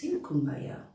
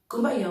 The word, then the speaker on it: Kumbaya: Kumbaya was in fact the way the Gula Geechee with a Creole accent pronounced come by here.